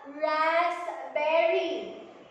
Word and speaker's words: raspberry: We have raspberry.